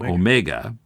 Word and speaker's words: omega: Was there Paul between the O and the No, he said he he accented the first syllable.